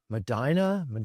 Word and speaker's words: Medina: Madina. I can never remember. I know. Yeah, I can never remember which one it is that Ohio pronounces it. I think it's Madina, but um in like June